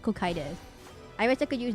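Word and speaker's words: Cocytus: No, it's Kokitus. I looked up the English dictionary. It's called It's pronounced Kokitus.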